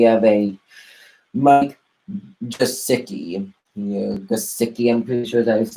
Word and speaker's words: Gesicki: Yeah, Gesicki, I'm pretty sure that's how you say his name.